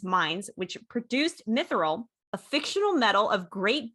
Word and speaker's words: mithril: The city's wealth was founded on its mines, which produced mithril, a fictional metal of great beauty and strength suitable for armor.